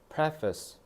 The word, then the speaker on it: preface: 자,요 발음프페이스 face라고 하면 안 된다. Preface price라고 해야 돼.